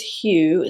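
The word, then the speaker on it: Hugh: Next up is hue. Spelled like the name H u G h.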